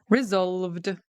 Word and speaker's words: resolved: All right, this one, resolved, resolved. It's got a D ending.